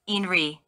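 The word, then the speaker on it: INRE: This mantra is vocalized in two separate syllables, in re. Prolong the sound of each letter.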